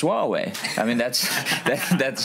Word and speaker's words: Huawei: so not not not H hu away I pronounced it as Hue away for for years so uh I think WWE